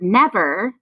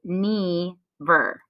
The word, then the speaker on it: never: short in the word never we would break into syllables after this first consonant because i don't pronounce the word knee ver nev er is how this word is pronounced so now we'll have